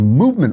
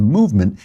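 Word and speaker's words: MVMT: leave out the valves it's spelled M V M T so you don't have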